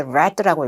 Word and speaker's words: read: 과거 시제나 PP가 되면 read의 스펠링은 똑같은데 read라고 읽어요, 얘들이.